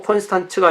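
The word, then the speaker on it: Konstanz: 콘스탄츠 공의회는, 이 콘스탄스는 영어고 콘스탄츠가 이게 맞는 발음인 것 같아요.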